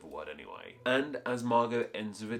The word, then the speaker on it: Margot: course we don't say this name isn't Margot it's Margo so why is that silent T even there if we don't use